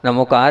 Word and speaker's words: णमो: मेरी तरफ देखें आप नमो अरहंत मैंने जीभ से मा निकाला है होठ से नहीं निकाला है नमो सिद्धा ये जो